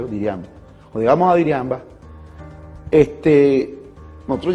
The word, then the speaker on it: Diriamba: Cuando nosotros llegamos a Jinotepe, y eso fue en Diriamba, Diriamba que se llama, se pronuncia Diriamba.